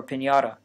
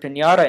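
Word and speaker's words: piñata: of the gutter so if you want to pronounce the word pinata in spanish you need to make three changes the first consonant should be a play in p the first vowel should be tense and the final consonant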